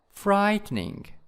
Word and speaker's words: frightening: syllable and scary scary and frightening frightening in the first syllables and moving in